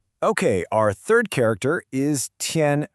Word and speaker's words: 添: Our third character is tien. Pronounced tien.